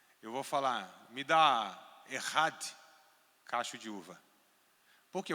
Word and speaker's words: Echad: E aqui está a palavra Ehad. Tá? Se escreve Echad, com CH. Echad, né? Ehad.